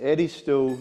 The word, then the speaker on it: Edisto: It's the Edisto Natchez Kusso. Edisto, It- how you spell It's Edisto, Edisto.